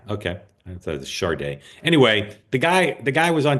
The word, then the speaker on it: Sade: He talking about Sade or Sade?